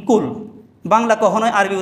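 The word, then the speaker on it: قل: কুল হু আল্লাহু আহাদ, কুল, এখানে কফ, এর উচ্চারণটা হলো একটু শক্ত করে কুল দিয়ে, এর অর্থ হলো ও নবী আপনি বলেন।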